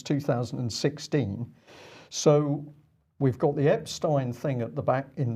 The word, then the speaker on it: Epstein: process it's interesting because I said Epstein you said abstain he said abstain okay